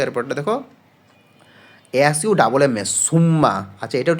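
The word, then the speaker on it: Summa: একটা লেটারের উচ্চারণ করবা যেমন এস U double M এস সুম্মা না বলে এস ইউ এম এ মনে মনে শুধু একটা এম ধর তাহলে উচ্চারণটা কি হচ্ছে সুমা হচ্ছে তাহলে সুমা আর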